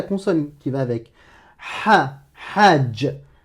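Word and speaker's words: حج: Si tu me prononces que la voyelle, si tu me dis A comme Hajj, Alouf, Aram, Halal, Hakim, là c'est pas bon.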